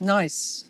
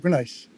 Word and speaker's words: gneiss: Ernst, you've often mentioned the importance of specifically, and I'm not even sure I pronounce it correctly, Sand River gneiss. Nice. Yeah, gneiss.